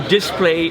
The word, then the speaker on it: display: So yes, these are made for people to display. To display? Yeah, to display your instrument. To display, not to display. I had the wrong stress on the wrong syllable.